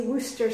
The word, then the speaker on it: Worcester: I know there's various ways of pronouncing it, but in Scotland we say Worcester sauce, like Bertie Wooster.